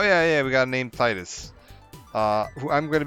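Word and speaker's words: Tidus: no prop oh yeah yeah we got named Titus uh who I'm going to be calling Titus this entire time uh and I think they have officially confirmed that his name is pronounced tetus and I will never say that of my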